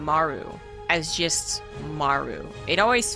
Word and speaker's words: Maru: easier for me to say maru which is like a very poor attempt at trying to actually pronounce the r correctly in the you know east asian languages more like an rl anyways i think she just